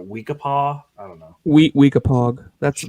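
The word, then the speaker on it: Weekapaug: uh stonington watauhil i don't know how to pronounce it wikipaw i don't know wheat weakapog that's right is it is it p-a-u-g yeah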